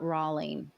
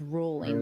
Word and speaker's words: Rowling: name wrong all along it's not Rawling it's rolling like bowling rolling I mean should I